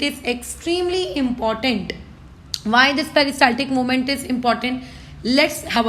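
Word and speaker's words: peristaltic: This movement is known as आप लोगों का पेरिस्टाल्टिक मूवमेंट, ठीक है, ऐसे ही प्रोनाउंस करना ताकि तुम स्पेलिंग गलत ना करो।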